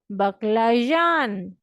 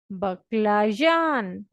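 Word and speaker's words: баклажан: ठीक है, तो बैंगन को रशियन लैंग्वेज में कहते हैं बकलाजान। बकलाजान, ठीक है, बकलाजान। जो है ना वो प्लेजर वाला, अगर आपने मेरे पिछले लेक्चर्स देखे हैं तो आपको ज की साउंड पता है।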